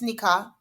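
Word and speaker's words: nikah: take back what I you're right you're right it's niika someone's goingon to correct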